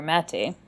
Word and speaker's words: Maté: for pronunciation and in Hungarian the emphasis is always on the first syllable of a word uh and the A's have accents over them properly so Gabor mate uh is my father-in-law